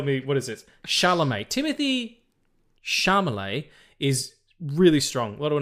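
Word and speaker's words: Timothée Chalamet: It's Timothy Chalamet. Yeah, it's Timothy Chalamet.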